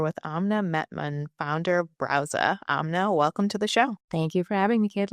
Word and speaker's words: Brause: you tell us what Browza is? Yes. And I'm actually super excited that you're pronouncing it correctly. I know it's a German word, so not the easiest, you know, feet. Uh but browser is basically a premium